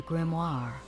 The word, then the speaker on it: grimoire: Now, show me the grimoire. The kingdom was saved. That's how you pronounce it.